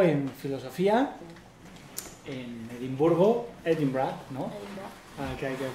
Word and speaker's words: Edinburgh: Edinburgh. Que hay que pronunciar así.